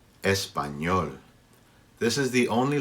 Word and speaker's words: español: It's pronounced sort of like NY. Ñ, ñ. Your tongue has to stay up on the roof of your mouth. Ñ, ñ. So it's not exactly like NY, but just practice it.